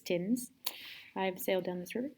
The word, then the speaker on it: Thames: It's a really cool building on the River Thames, which is spelled Thames, which is confusing, but it's Thames.